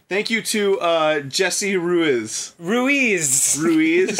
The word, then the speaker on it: Ruiz: Ruiz. I'm pretty sure that's how it's said.